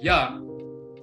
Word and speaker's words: Yah: When you say ya, the y sound is not just one sound, it's a combination of eh and ah, ea, and this is where you get the ya sound from.